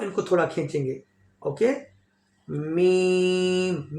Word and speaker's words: م: Okay, meme, meme also lip sound letter. Meme भी जो है वो होंठ वाला हरफ है, दोनों होंठ को बंद करेंगे और मीम को प्रोनाउंस करेंगे।